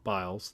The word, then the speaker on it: Biles: we record this last night uh simon simone bulls or biles gosh i gotta say her name simone biles the probably you know what most people consider